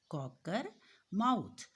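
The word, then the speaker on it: Cockermouth: कॉकर माउथ, COC के Kock, ERR, MOUTH माउथ, कॉकर माउथ।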